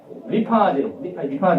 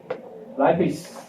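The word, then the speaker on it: lipase: 라이페이스는 옛날에 이거 영어로 보면 리파아제가 바뀐 말이에요. 리파아제를 라이페이스라고 읽은 것은 영어식 표기에 가깝게 읽은 것이다. 그러나 영어식 표기에 진짜로 가깝게 읽으려면 라이페이스는 라이페이스이기 때문에 이렇게 안 읽으려면 을라이페이스가 맞다. 그렇게 되면 정확합니다. 을라이페이스는 을 발음하는 순간 그러면 이 혀가 여기 혀 입천장 뒤에 살짝 붙었다가 떨어집니다. 라는 소리이기 때문에 정확한 L 발음이 된다. 을라이페이스 라고 써야 돼요.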